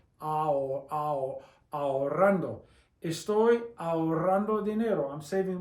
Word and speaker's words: ahorrando: Remember, the H is silent. The A and the O are 2 vowels and they're pronounced separately. You can't pronounce them as one. It's ahorrando.